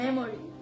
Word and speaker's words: memory: মেমোরি। No, no, it's not memory. ইটস নট মেমোরি। Yes. তাহলে কি? Memory. কি? Memory. মেমরি। Yeah. কেন আমরা তো বলি মেমোরি কার্ড। না। কি হবে? Memory. মেমরি। Yeah. অ্যাকোমোডেশন, তাই না?